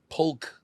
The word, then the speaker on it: Polk: want to learn about poker for free just go on the internet shout out to doug polk doug polar poke polk p-o-l-k and he says that he's pronounces the l yeah interesting yeah he